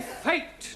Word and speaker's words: fate: give you some examples let us take the word f a t now that has a flat a s good but if we add an e to the end of fat then what do we have fatty no Giovani fate now does anybody know